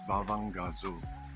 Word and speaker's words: Bavangasso: Anyone looking to stay at this longhouse, Bavangasso, that's how you spell it.